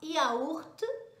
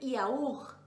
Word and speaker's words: yaourt: Então, esse aqui fica, ó, presta bem atenção, tem duas pronúncias possíveis, tá? Você pode ouvir assim, ó, yaourt, e você pode ouvir yaourt, tudo bem?